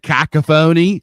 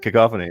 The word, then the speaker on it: cacophony: telling Brandon for years I said cacaphony I didn't know it's pronounced coph yeah we didn't do that live yeah you're right yeah cacophony yeah yeah for years